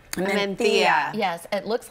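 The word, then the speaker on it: Mencía: So this is a Pinot Noir substitute or an alternative, I should say, from Spain, and it's a Mentilla. Mentilla.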